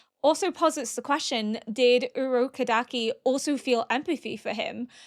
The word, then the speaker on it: Urokodaki: Urokodaki. Urokodaki. I'm probably gonna butcher that. I am literally looking at how to pronounce it, and it's like Urokodaki.